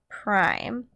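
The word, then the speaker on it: A′: actually pronounced as a prime that's how you say this you don't say a apostrophe it's not the number one it's not a - it's a prime so make sure you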